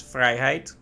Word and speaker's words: vrijheid: That sounds a lot like the Dutch for freedom, which is vrijheid. They even say it like that too, so...